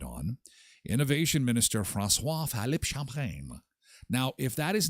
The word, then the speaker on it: Champagne: Francois Philippe Champagne. And you have to say it like that.